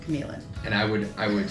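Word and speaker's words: Q'emiln: Falls big beautiful Park this is called caman Park caman even though Cody really doesn't want it to be so I thre the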